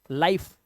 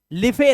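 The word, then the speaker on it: life: ठीक है, क्या क्या नहीं करना, उच्चारण नहीं करना, उसे साइलेंट रखेंगे। जैसे लाइक, लाइक, लाइफ, लिफे नहीं, शेरे, शेरे नहीं, शेयर, बस ई साइलेंट।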